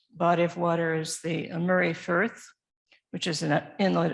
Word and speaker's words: Moray: It's pronounced Murray, by the way. It looks like Moray, but in Scotland they say Murray.